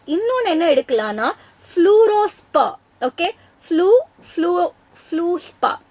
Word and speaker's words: fluorspar: Okay, fluorspar. Actually pronunciation பாத்தீங்கன்னா இந்த ஆரு சைலண்ட், இந்த ஆரு சைலண்ட் இங்க.